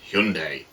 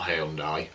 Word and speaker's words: Hyundai: was looking at the I think it's it's pronounced Hyundai there are currently adverts on the TV which are telling me that and they're relating to the cars mostly but it's not hyai or Hyundai it's Hyundai um I got sidetracked there